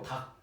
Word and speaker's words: 닭: 닭. 그치? 닭이. 기억 받침으로. 이걸 뭐 달그 이러면 안 된다는 거죠. 이렇게 해야 되죠. 그래서 리을 기억이었는데 어떻게 됐다? 리을이 날아갔다라는 거.